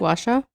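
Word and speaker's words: gua sha: Washa.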